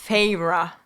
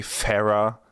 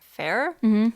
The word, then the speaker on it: Feyre: First, before we got the pronunciation guide, I kind of thought she would be pronounced like fair.